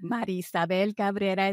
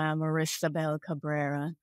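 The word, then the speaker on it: Marisabel Cabrera: natural for me but Mar Sabel Caba is how you would say it properly uh for folks who don't speak Spanish I tend to give him an English version which is U Marissa Bel Cabrera I uh her aunt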